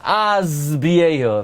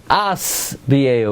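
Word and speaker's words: אשביעהו: Now, by the way, most people mispronounce that pasuk. Most people say Oirech yamim azbiehu. If you listen to it, they say z. They turn into an insect and they start zuzzing. It's asbiehu with a sin, not a zayin.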